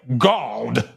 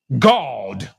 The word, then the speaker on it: God: When people say God, it's actually, this is pronounced G-A-W-D, by the way, God. That's how it's pronounced. It's not pronounced like like we say it. God.